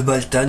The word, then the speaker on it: Valtan: Ensuite, ici, nous avons Baltan, Valtan, et ça s'écrit avec un V, mais je pense que ça se prononce comme pour le kaiju d'Ultraman, Baltan. Si vous connaissez, c'est lui. J'ai la version Sofubi de Baltan, c'était un des kaiju dans Ultraman, tout simplement.